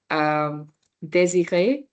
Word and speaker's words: désiré: Désiré. So the DE is easy to pronounce here. It's the R that trips people off. So désiré.